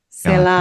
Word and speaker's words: Selah: Selah.